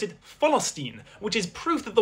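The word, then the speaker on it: فلسطين: They pronounce it philstine, which is proof that the word has existed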